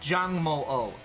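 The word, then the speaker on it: Jangmo-o: goes your terrain again jungmolo Jang moo dragon with a little heart on its head it's pronounced Jiang molo Zhang j-a-n-g Mo o I am [ __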